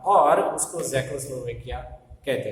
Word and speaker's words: Czechoslovakia: ये नाम आपको पढ़ने में थोड़ा सा दिक्कत होगी, लेकिन ठीक से उसको इस तरह से प्रोनाउंस करते हैं, ज़ेकोस्लोवेकिया। आज ये जो है उसके 2 टुकड़े हो गए हैं, ज़ेक और स्लोवैक।